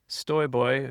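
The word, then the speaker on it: Stojboj: off of the uh the Polish pronunciation of J as a Y.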